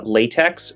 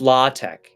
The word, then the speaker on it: LaTeX: use something like uh latex that clearly is spelled latex and yeah it's it's la it's not late it's la tech it's a lot of